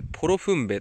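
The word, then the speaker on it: 大磯: 大磯と書いてポロフンベと読みます。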